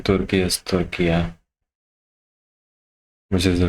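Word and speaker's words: Türkiye: लेकिन ये judgement I like the fact he's pronouncing Turkey as Turkiya, which is the right pronunciation.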